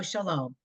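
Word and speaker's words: שלום: Amy do line five Sha Sha Shalo sha LOM sha LOM Shalom Tada when this an exclamation It's a real word we all know Shalom that should be your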